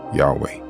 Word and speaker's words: Yahweh: from these two names the best pronunciation using the Hebrew letters is definitely Yahweh but first let's look